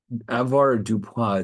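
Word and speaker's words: avoirdupois: Avoir du poids, it's a French word, obviously, where you have 1 ounce, 16 ounces is 1 pound.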